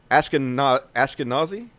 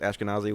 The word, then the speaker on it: Ashkenazi: And speaking of white supremacists, so Stefan Molyneux has a very specific way he likes to say Ashkenazi. I think that's how you pronounce it, Ashkenazi, which is a particular sect of Jews. But of course, he likes to pronounce it Ashkenazi. He likes to call it Nazi because he likes to